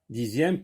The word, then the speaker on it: dixième: Dixième, comme dans le mot deuxième, donc il se prononce z.